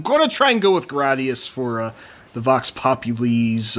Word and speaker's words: Gradius: Gladius yeah whatever because it's supposed to be a name of that uh Roman sword type yeah so what this